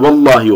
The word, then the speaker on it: vallahi: Başına vav geldiğinde, şöyle vav getirince ve Allah'ı diye vallahi oluyor. Elif'in okunuşu gidiyor.